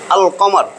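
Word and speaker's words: القمر: উচ্চারণ হইছে তার মানে চন্দ্রাক্ষরে লামের উচ্চারণ হবে যেই সমস্ত হরফ উচ্চারণে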